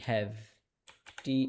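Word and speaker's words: have to: যত ট আছে ইংরেজিতে সব ঠ।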